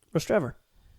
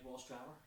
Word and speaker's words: Rostrevor: neck of the woods how you pronounce the place that's near Warren Point. It's known for very nice Kodak corners there. Rostrevor. See, I don't like that. I look at it like Ross Trevor.